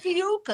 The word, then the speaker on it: Ophiuchus: Dave says is Ophiuchus how do you pronounce I keep messing it up. Ophiuchus.